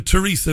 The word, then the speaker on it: Theresa: Even Theresa May. This one I don't get, though. It's spelled T-H-E-R-E-S-A. Theresa. Theresa, right? We would say. But they pronounce the TH a hard T.